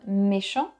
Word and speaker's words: méchant: Though it comes from méchant. Méchant means mean. It shouldn't be positive, but it became positive. It works the same with silent letters. For example, méchant. The T, you don't pronounce it.